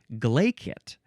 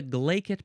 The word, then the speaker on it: glaikit: Glacet. You can spell it g l a i k i t or k t.